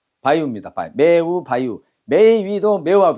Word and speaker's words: ばいう: 자, 일본 발음은 매우를 어떻게 한다고? 매위가 아니고 어떻게 해봐. 바유. 바유. 바유입니다.